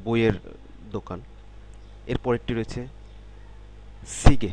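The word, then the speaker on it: 시계: বইয়ের দোকান এরপরেরটি রয়েছে সিগে এর উচ্চারণটা হওয়া উচিত সি গিয়ে তবে কোরিয়ানরা কিন্তু সি গিয়ে এরকম বলে না এই খেয়াল করুন সিগে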